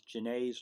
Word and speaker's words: Janet: Um, One of the things I want you to know is Genet's law. It's spelled Janet. It's French. It's pronounced Genet.